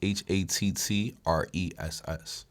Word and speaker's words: Hattress: And me, like I said, my name is Hattress. It's like mattress with an H, but please don't sleep on me. You can find me on Instagram at IAM_Hattress. That's HATTRESS.